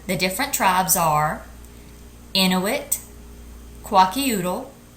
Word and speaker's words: Kwakiutl: Once again, the different tribes are Inuit, Kwakiutl, Nez Perce, Hopi, Pawnee, and Seminole.